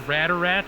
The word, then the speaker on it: Rad Rat: She goes Radarat, right? But it's Rad Rat. It's spelled Rad Rat. It's Radarat, but it's spelled Rad Rat.